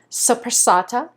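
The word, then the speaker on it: soppressata: and then I have a salami which is pronounced suata I I really practice that because I wasn't quite sure how to pronounce it but it's a ital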